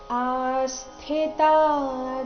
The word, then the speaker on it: ಆಸ್ಥಿತಾ: ಬರಬೇಕು ಸಂಸಿದ್ದಿಂ ಆಸ್ಥಿತ ಆಸ್ಥಿತ ಆ ದೀರ್ಘ ಬಂದು ಸೌಮ್ಯ ಆಘಾತ ಮುಂದೆ ಸ್ಥಿ ಇದ್ದ ಕಾರಣ ಆಸ್ಥಿತ ಜನಕಾದಯಹ ಲೋಕಸ